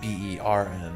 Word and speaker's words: Bern: Wait, it's called Burn, B-U-R-N? No, like B-E-R-N.